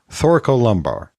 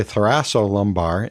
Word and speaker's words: thoracolumbar: division of the autonomic pathways, and that is thoracolumbar. And for some reason, I always want to say thoracolumbar, and I don't know why that is.